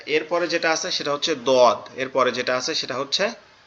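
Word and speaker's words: ض: আর এটা উচ্চারণ হবে কোথা থেকে, এটা উচ্চারণ হবে আমাদের জিহ্বার গোড়া উপরের মাড়ির দাঁতের গোড়ার সঙ্গে লাগায়, ডান পাশের উপরের মাড়ির দাঁতের গোড়ার সঙ্গে লাগায়। দোয়াদ, দোয়াদ, দোয়াদ, দোয়াদ, দোয়াদ, এরকম ভাবে, ঠিক আছে?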